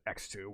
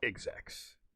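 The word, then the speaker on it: Xrd: a fun fact for you it's actually not pronounced x2 or xbox it's pronounced execs japanese is a silly language and daisuke is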